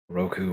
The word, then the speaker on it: Roku: Roku oh that's right based on the name translations that is the way to pronounce it Roku roko valentus valentinus oh